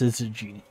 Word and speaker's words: syzygy: I'm pretty sure it's pronounced syzygy.